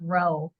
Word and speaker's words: Rheault: say this which is my last name is pronounced row just like r w